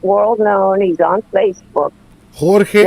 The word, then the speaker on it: Jorge: too but uh uh Jorge Martin is an expert World known he's on Facebook Jorge Jorge Jorge Jorge is George right basically okay but it's spelled with the J j-o-r-g-e Martin Miranda Miranda Martin anyway